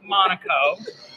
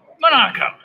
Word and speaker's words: Monaco: But everybody wants to say Monaco. Think Larry, Curly, Mo, Monaco. That's how you pronounce the name.